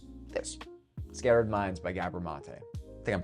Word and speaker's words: Gabor Maté: Well, it's this Scattered Minds by Gabber Mate. I think I'm pronouncing it correctly. Gabbor Mate.